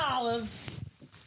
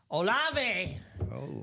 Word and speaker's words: Olave: It is Chris, not Olive, Olave.